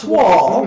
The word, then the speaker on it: toile: I got to lay down the word toil, which not with an E on the end, which is the French canvas fabric Pronounced toile.